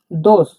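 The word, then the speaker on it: дос: ডি এর মত উচ্চারণ হয় ডি এর মত উচ্চারণ হওয়াকে এটা আমরা দ বলছি দ উদাহরণ দেখলে বুঝতে পারব দোস দোস মানে বন্ধু দোস মানে বন্ধু দেখুন ভেঙ্গে দিচ্ছি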